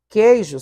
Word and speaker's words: queijo: Já na palavra queijo, queijo só tem ditongo, não tem tritongo, porque o U não está sendo pronunciado.